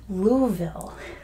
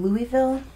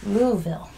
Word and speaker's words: Louisville: the Kentucky Derby that's right but it is pronounced Louisville so you can probably get away with saying Louisville but it's pronounced Louisville it's here in Kentucky can you see the